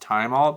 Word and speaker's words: thymol: I don't know about labeling, but it's thymol, which I understand should be pronounced thymol because it's oil from the thyme plant, essential oils, vitamins, minerals, amino acids, and sugars.